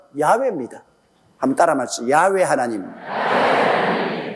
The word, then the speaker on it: 야훼: 이러니 여러분 아버지 이름도 하나 똑똑히 발음 못하면, 그래서 제가 여호와라고 이름을 적어도 꼭 야훼라고 불러라고 하는 이유가 우리 아버지 성함의 정확한 발음은 야훼입니다.